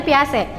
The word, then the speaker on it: Piaget: Piaget itu dibacanya Piase.